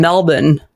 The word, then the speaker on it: Melbourne: overseas which is in Melbourne Victoria Australia and I say it like a lot like an Aussie in Melbourne Canadian say Melbourne but that's not how it's said okay I live there